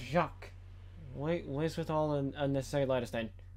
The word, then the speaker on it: Jacques: Now it's pronounced Jacques.